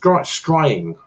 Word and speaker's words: scrying: It's just scrying. It sounds, rhymes with crying or something like that.